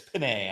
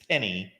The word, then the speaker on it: Penei: It's Penei. I don't believe it's Penny.